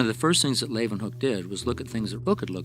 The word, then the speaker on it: Leeuwenhoek: la y Lai ooh and then they pronounce it with a V Huke Leeuwenhoek op Toni fall even